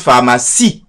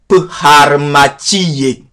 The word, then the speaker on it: pharmacie: Et pourtant, on prononce pharmacie, mais il y a un E à la fin. Et si tu dis à un roumain de prononcer le mot pharmacie, tel qu'il est écrit en français, il va te dire pharmacie. Parce qu'il va prononcer aussi le E final.